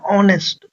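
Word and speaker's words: honest: ट तो वोवेल में नहीं आता तो अ टाइगर अब देखो ऑनेस्ट बॉय इसमें जो एच है वह साइलेंट होता है साउंड क्या आता है ऑनेस्ट ऑनेस्ट है ना साउंड आया ओ का ओ का जो साउंड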